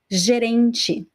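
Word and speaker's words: gerente: of the word gerenci jerenchi the pronunciation is different right repeat after me so the t e at the end of words they're usually pronounced as chi it varies depending on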